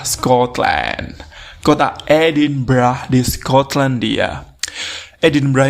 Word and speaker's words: Edinburgh: kota edinburgh di Scotlandia edinbra ini tulisannya kalau dibaca ke dalam bahasa Indonesia tuh bacanya nya edinburg edinburg bukan edinbah edinburg cilup brah oke